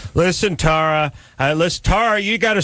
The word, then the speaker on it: Tara: give her one chance Tera no Tara Tara works I get it all